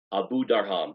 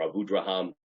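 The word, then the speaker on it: Abudarham: want to understand tefillah, the Abu Darham, or Abu Draham, some people pronounce it Abu Darham, who was wrote this extremely important work on the Siddur, 14th century Spain.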